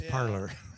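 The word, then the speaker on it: Parler: If you don't like Facebook, you don't like Twitter, and it's spelled parlor, like PALRE. For us rednecks. For us rednecks, it's parlor. Parlor.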